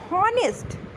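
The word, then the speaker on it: honest: Article लेकिन ऑनेस्ट एंड आवर ऑनेस्ट ऑनेस्ट एंड जैसे ऑनेस्ट लिखा हुआ है तो यहां पे एच हमारा साइलेंट है तो उसे हम क्या बोलेंगे?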